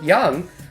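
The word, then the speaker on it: Jung: are actually taking effect you've mentioned that is pronounced young it's just everyone loves young psychology really that's pronounced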